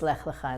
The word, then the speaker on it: Lech Lecha: And another name that is hard to pronounce, Lech Lecha. Right, often also called Lech Lecha sometimes, but it's Lech Lecha in the original Hebrew.